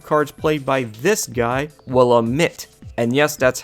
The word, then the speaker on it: Willamette: a bunch of cards played by this guy willa mitt and yes that's how his name is supposed to be pronounced he is one of the several card